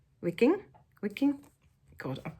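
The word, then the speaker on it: Wiking: of hugar by Mick I'm going to say that you pronounce that W like a V wicking wicking God I've butchered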